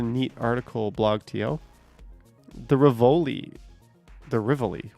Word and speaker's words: Rivoli: The Rivoli. Why would I say Rivoli? It's supposed to be pronounced Rivoli, but everyone says Rivoli.